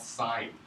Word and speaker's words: sine: It's this thing called sine. Okay? So now we see that it's sin. We say it's sin. I won't consider it a sin. But it's really sine.